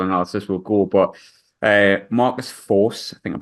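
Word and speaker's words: Forss: But Marcus Force, I think I'm pronouncing that right, Yes.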